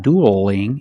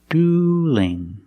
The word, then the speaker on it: dueling: dueling now what changed now the L and dueling is between vowels so we have to change that L to a light l so it's not doodling it's dueling dueling they're dueling somebody's gonna